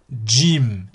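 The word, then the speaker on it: جيم: Ensuite, Jim, Jim, Jim, comme Jamila, Jamila. D, J, I, M.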